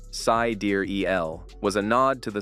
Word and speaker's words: sidereal: Dark represented the unknown, and sidereal, pronounced sidereal, was a nod to the stars, a perfect blend of technology, mystery, and the cosmos, basically peak Musk.